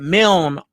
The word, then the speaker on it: Milne: I went and listened to some of the BYU games, and they said Milne on there, and I think the lady pronounced it. The pick was Milne, so we're just gonna say Dax.